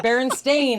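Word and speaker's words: Berenstain: It's Baron Stain. It's spelled Baron Stain like everywhere.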